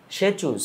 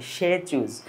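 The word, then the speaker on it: Tshechu: সে চুজ করে দিছে সে চুজ এই কথাটা এখানে মনে রাখবা সে চুজ এখানে টি উচ্চারণ হবে না প্রধান যে উৎসবটা প্রধান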